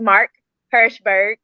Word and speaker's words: Mark Herschberg: back to she blurts podcast today's guest is mark hershberg did i pronounce that right you did okay thank you